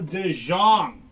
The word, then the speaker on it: DeJong: Trout, PCA, Lindor, Bailey Horn, and Paul DeJong. Purple foil. 163 out of 250 for Paul DeJong. I believe it's actually pronounced De Jong.